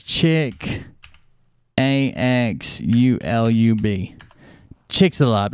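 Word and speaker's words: Chicxulub: a drawing of it's uh it's this i'll spell it chicks uh chick it's chick ax ulub chick's a love it's the name of a uh crater that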